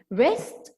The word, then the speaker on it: wrist: This is the W here is silent, just like write. يكتب, write. The W is silent. Wrist watch.